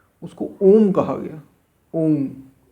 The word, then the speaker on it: ओम: ओम, आ उ मा, तीन शब्दों से मिलकर बनी ओम। ओम, ये ओम शब्द, ओम शब्द, ओम है, ओम नहीं है, ओम है। आ उ और मा, ये तीन का उच्चारण है, तीनों का मिश्रण है।